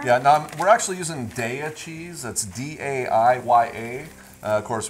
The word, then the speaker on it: Daiya: And Daiya, just think of dairy, D-A, dairy. That's how it's pronounced, Daiya cheese.